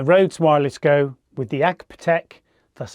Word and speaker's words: AGPTEK: This time I'm using the RØDE Wireless Go with the AGPTEK, that's how you say it, £12 lavalier mic.